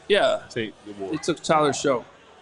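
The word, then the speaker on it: Shough: Tate, they took Tyler Shook. How do you say his last name again? Suge. Shook. Shook. Shook. Tyler Shook. I said Shuge.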